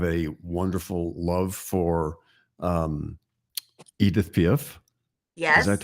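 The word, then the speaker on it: Édith Piaf: pinent you have a wonderful love for um Edith pif yes is that how you say her name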